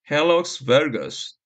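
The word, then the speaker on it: hallux valgus: 발음은 헬럭스 베르거스.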